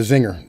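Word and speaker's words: Czinger: talk about it here the ziger or the Zinger the Zinger um it's spelled c z i n g e r right it's a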